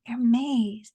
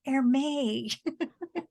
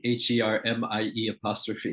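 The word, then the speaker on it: Hermès: And and the stewardess looks at her and says, it's Hermes, Hermes. So she misunderstood the proper pronunciation of the store. Thinking it's sort of like HERMIE' or something.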